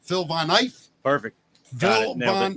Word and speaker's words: Phil Von Eiff: Now I'm gonna screw up the pronunciation. Phil Von Eiff.